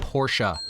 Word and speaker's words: Porsche: for your wish before yesterday a porsche correct pronunciation of porsche and their approaches racing up and down the street porsha why for once can they just have this